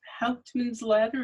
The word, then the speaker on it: Hauptmann's Ladder: Your first book was Hauptmann's Ladder, is that the correct pronunciation?